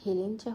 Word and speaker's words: হেলেঞ্চা: এই শাকের শুদ্ধ উচ্চারণ হেলেম চা হলেও একেক অঞ্চলে একেক নামে চেনে এটাকে।